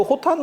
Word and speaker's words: 호탄: 그 중국의 옥문관은 그 호탄 옥이 들어오는 거, 허텐이라고도 하고, 우리 발음으로 호탄인데, 그 호텐 옥이 들어오는 거라서 옥문관.